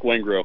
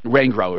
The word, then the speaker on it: Wengro: Hey, I always say your name wrong. I'm sorry. It's no problem. It's Wengro. Wengro, right.